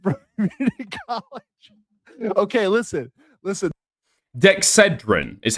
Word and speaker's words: Dexedrine: Dexedrine is how they pronounce it in the United States.